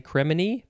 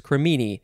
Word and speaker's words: cremini: next word is cremini i guess that's how you say it cremini uh i would probably want to say criminy but no it's cremini i c-r-e-m-i-n i or